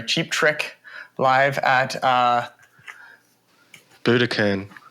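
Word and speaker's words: Budokan: Trick live at uh Buddakan is it Buddakan I was going to pronounce I always pronounce it wrong I always say bodaan Buddha can and oh man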